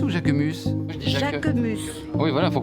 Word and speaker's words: Jacquemus: Ich feiere Jacquemus auch sehr.